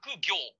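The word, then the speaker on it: 角行: 正式名称は角行。角が行くと書いて角行と呼ぶ駒になります。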